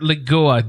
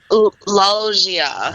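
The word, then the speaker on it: Loggia: pronounce it yeah it's I asked Paul how to say it this morning too because I didn't want to sound like an idiot but it's like loia loia or something yeah like a like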